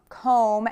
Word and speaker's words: comb: Bomb, comb, and tomb. These look so similar but are pronounced so differently. Bomb is really open mouth. Bomb. Comb, oh. And tomb, ooh, tomb.